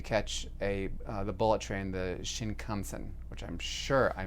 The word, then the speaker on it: Shinkansen: I got into Tokyo in early evening and had to catch the bullet train, the Shinkansen, which I'm sure I mispronounced. Shinkansen.